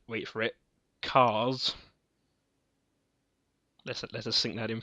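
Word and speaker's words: Kars: called, wait for it, Cars. Let us sink that in for a second. It's spelled with a K. But he's still called Cars.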